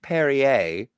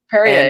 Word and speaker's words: Perrier: It's pronounced Perrier. Perrier.